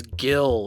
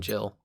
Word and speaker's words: Jill: good, about it, and he's like, no, it's Gil, or whatever. It's like, no, it's clearly fucking Jill.